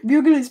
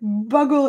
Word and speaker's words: bugle: and yeah ula says bugley's pronoun buggle is pronounced bugle not you are so alright i